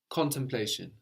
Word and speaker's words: contemplation: How would you say contemplation? Contemplation. Good. You missed the first N, which I like. Con, you didn't hang around on it.